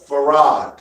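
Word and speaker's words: Fard: And he said, no, it's Farad.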